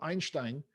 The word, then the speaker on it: Einstein: So, Einstein, і так маючи вимовити його ім'я, він був німець, чи з Німеччини він був, по-німецьки його прізвище є Einstein.